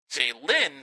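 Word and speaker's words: Jaylin: This guy's name spelled with J A Y L I N. Jay Lynn Smith, the quarterback out of USC.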